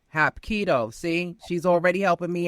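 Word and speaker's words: Hapkido: Hop kiddo. Hap kiddo. Hop kido. Hap kiddo.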